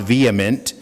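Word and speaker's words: VHEMT: of vehement it's v-h-e-m-t it's an acronym it's pronounced vehement it's the voluntary human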